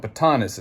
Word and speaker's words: Batanes: expats know about batanas we're not talking about baton we're talking about batanus it's spelled b-a-t-a-n-e-s I believe um batanus is different than like the Baton Death March that's that's what 2a's at the end you know it's totally different ball